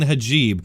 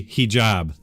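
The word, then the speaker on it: hijab: made yesterday multiple times criticizing ajeeb honestly I know how to say it correctly but for some reason my brain and my mouth just weren't cooperating I think I'm gonna go ahead and blame the time change I haven't been sleeping great thanks to everybody who reminded me of the correct way to say he job with the Muller report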